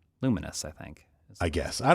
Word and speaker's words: Lumines: yeah yeah I think I always for a long time I called it Lou mines yeah I realized like oh is that luminous I think I guess